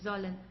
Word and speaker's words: sollen: ihr sollt und sie sollen. Make sure to pronounce the S as like an English Z, okay? It's because here we have an S and then comes a vowel, so sie sollen, okay?